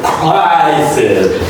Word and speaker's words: crisis: The first I is a long I vowel and it sounds like an I. cry. And the next I is reduced, and the last stress is there on that I.